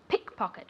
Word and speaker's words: pickpocket: Pickpocket. Remember that the accent goes on the first word. Pickpocket, or on the first syllable.